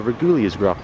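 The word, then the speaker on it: Reguliersgracht: Maps, and she was like, turn right for Reguliasgracht. I'm like, okay, that's how you pronounce it.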